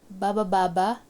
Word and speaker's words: bababa: Baba baba, going down. This first one is actually a sentence and it's just made of one syllable, which is ba.